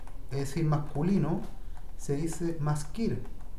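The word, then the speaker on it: מזכיר: Entonces, en hebreo, si yo escribo secretario, es decir, masculino, se dice maskir.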